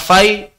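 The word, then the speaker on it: fai': negara menjadi Fai apa Fay harta rampasan yang tidak didapatkan melalui perang itu namanya kalau di buku-buku tulisannya salah itu bukan kita bacanya faih karena pakai I tulisannya Tulisannya Fa dengan harta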